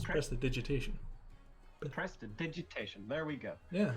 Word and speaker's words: prestidigitation: That is how you pronounce it. It's prestidigitation. The prestidigitation. That is it. It's prestidigitation.